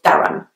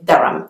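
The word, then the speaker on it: Durham: about the university its theorem even though there is an H in the middle it's not actually pronounced the next place is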